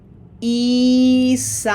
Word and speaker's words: Isabel: So focusing on Spanish, this is going to be Isabel.